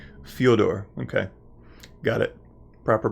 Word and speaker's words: Fedor: NASA to cover the on station operations fuel door okay got it proper pronunciation is important to me so thank you